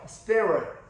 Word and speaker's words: spirit: 이제 R이 발음이 혀를 안으로 말아야 돼요. spirit.